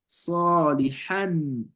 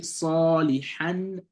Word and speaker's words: صالحا: The reason is because there's an hamza or alif hamza after the ha, and that's why you have to round it up and not say, you don't say salihan, You say صالحا فارجعنا نعمل صالحا إنا موقنون.